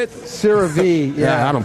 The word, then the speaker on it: CeraVe: CeraVe, yeah. I don't pronounce that stuff.